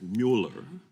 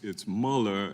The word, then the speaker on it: Mueller: Eastman now maybe it's a bit of my German heritage my mother's maiden name was and the Mueller is the German pronunciation so it's it's Muller and I've heard so